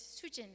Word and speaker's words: Sujin: And I said, "It's suchin." So, I didn't know how to speak Korean. So, I said sujin in a very Korean pronunciation. It's suchin.